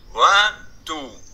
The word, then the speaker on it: Ventoux: En Corse, la voix tombe toujours sur la dernière syllabe. Ventoux.